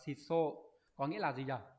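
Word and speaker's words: 質素: Từ này đọc là shiso, có nghĩa là gì nhỉ?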